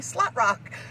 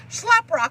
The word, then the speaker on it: Schleprock: was called schleprock and my grandmother would call me slot rock because she would barely even as pronounce things but I'm like man slot rock is not what that is gonna slap rock I'll accept but slot rock not so much but in that she